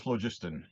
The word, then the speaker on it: phlogiston: I have always called it phlogiston. So Phlogiston. I can pronounce I've that. heard people Phlogiston. say they put a different emphasis on the different syllable, and phlogiston, but phlogiston is what I've said.